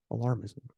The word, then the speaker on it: alarmism: media supporting global warming alarmism alarmism alarm alarming ISM alarmism that's how you say it these findings call